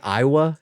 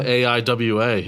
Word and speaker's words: Aiwa: stealing a bunch of walkmen and it's like Iowa have you seen uh when's the last time I've seen Iowa Aiwa yeah that's how you say it right I